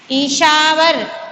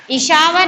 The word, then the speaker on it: ईश्वर: ईशावर. Not ना. ईशावर नहीं है ना. Yes, ईश्वर. हम लोग बोलना है ईश्वर.